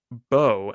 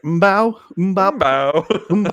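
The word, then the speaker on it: Mbow: Bowe out of Purdue. They am silent. I see that. Thank you for the pronunciation.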